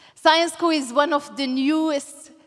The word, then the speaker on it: Syensqo: Syensqo? This is how we pronounce it, so think science. Syensqo is one of the